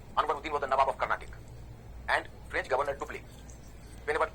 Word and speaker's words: Carnatic: It is pronounced Carnatic. That is a better substitute. Carnatic.